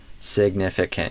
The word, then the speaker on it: significant: Again, you can make an argument that all of the vowels in this word are I sound. Significant. Even this one, which is not the letter I, I would argue I still pronounce as kin with a I sound.